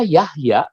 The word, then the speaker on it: Jahja: bahasa saudara-saudaraku sama seperti nama saya nama saya Yahya itu ketika dibaca oleh orang bank pasti dia baca Nama saya salah dia bacanya zat-zat Mengapa Karena saya lahir pada masa